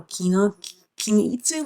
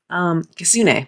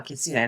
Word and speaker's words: Kitsune: And, like, the character here, he's like a Kinitsu, like a fox spirit. Kitsune. There we go. Kitsune. Now I pronounced that right.